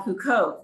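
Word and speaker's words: Huqoq: very close to the sea of galilee called huco which is spelled h-u-q-o-q and there's actually a link on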